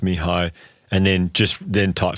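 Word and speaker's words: Mihály: a link to this m i h a l y I think that's pronounced Mii and then just then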